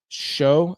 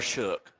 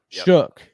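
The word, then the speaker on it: Shough: How do you say that, Mark? I know you corrected me on that, but Tyler Shook. Shook. Yep. So weird. I'll never get that. I'm gonna have to purposefully misspell his name just so I pronounce it right.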